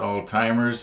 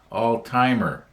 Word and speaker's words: Alzheimer's: Well, I guess it's not Alzheimer's. I think the correct way to pronounce it is all-timer disease. You don't put an S on the end of it.